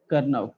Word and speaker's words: Karnaugh: कर्नव, KARNAUGH, कर्नव मैप. बट इसको mostly हम लोग के मैप से ही प्रोनाउंस करते हैं.